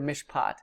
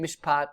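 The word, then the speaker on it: מִשְׁפָּט: That long A, kametz, is going to, in a word pair, is going to reduce to a short A, patak. So it sounds the same, mishpat, mishpat, but that vowel is going to change.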